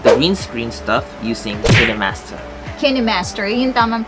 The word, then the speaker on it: KineMaster: KineMaster, yun tamang pronunciation.